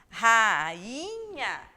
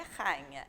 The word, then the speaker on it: rainha: Rainha. Se fosse junto aqui, se esse I fosse uma semivogal, eu teria a pronúncia de rainha, e não é rainha, é rainha, certo?